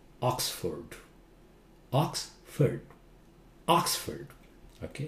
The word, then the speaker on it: Oxford: not London London London London how do you pronounce that it's not Oxford Oxford Oxford okay it's not Oxford Oxford okay